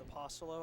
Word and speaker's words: Apostolo: By Kickoff is taken by number 23, Zach Apostolo Turns the ball back to the Cupertino 40. to the Cupertino 40. To correct the PA announcer, it's Apostolo. I play baseball.